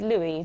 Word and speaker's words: Louis: 18 King Louie's at there's a bit of a confusion over whether we pronounce it Louis or Luis Sojo actually clear that up for you okay it is Louis but there was a